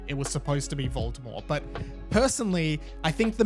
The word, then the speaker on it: Voldemort: might be controversial, but they now pronounce Voldemort as Voldemort, and I understand that I'm pretty sure when JK Rowling originally wrote the books, Voldemort was supposed to be a silent T.